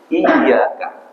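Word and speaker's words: إِيَّاكَ: kajian Q Sabah ini dibaca dengan tasdid iyaka meskipun nanti ada beberapa yang bacanya tanpa tasdid tetapi yang bertasdid ini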